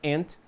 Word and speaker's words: aunt: No caso da pronúncia do inglês americano, a palavra ant é a mesma da palavra ant, que em português significa formiga.